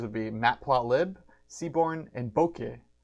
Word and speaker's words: Bokeh: be matplotlib Seabourn and Boca that's spelled Bo k eh so that's why I spelled loud cuz bouquet kind of kind of you don't that's kind of you don't know how to spell that alright so the programming